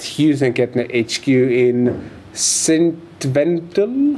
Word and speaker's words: St. Wendel: I am here at Hughes and Kettner HQ in St. Wendel. How do you pronounce it? St. Wendel.